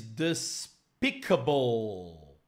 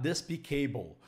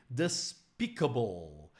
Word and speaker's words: despicable: he thinks it's funny it is Despicable not despicable okay despicable something that you shouldn't